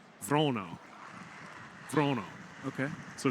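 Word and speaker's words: Wranå: and I'll probably still bungle this but it's vono vono okay so it's not quite an o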